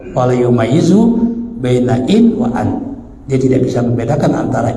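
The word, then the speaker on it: أن: aku tidak, bukan jika, an, bacanya an lam utalliqkan bifathil hamzati tuliqat fil hali, maka kalau dibaca an jatuh talaknya. Tapi kalau dibacain enggak, ya.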